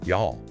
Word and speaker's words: y'all: The material also pointed out a fascinating regional variation um in the southern US where you all reduces to y'all.